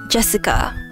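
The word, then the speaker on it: 朱志香: the same kind of weird name you see is pronounced Jessica she's dad's older brother's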